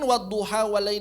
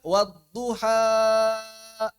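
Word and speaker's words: والضحى: Waduha saja. Sebagian orang masih ada yang mengira ini adalah mad arid. Sebagian orang masih dia mengirim pada hari. Makanya dia baca wadduha apalagi di akhir ayat suhufi Ibrahima wa Musa. Allahu Akbar gitu kan. Mad arid liruku. Ini bukan mad arid lisukun.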